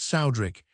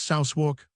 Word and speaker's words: Southwark: Southwark was then pronounced Soudrick. It is now pronounced Southwark, or near it.